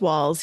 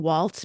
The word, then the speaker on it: Walz: Yeah, I keep saying Waltz because of the political scientist, but yes, I think it is In the Walz. Midwest, you're not allowed to have non-obvious pronunciations, right? You just Okay, go with the okay. phonetic. So I'm going with Tim Walz.